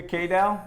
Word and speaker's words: Kadel: it right well Kaito Kaito Junior K del stress on the first syllable Miracle League great person